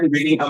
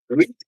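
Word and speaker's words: read: আর যেটা past form ওটার উচ্চারণ হচ্ছে রেড।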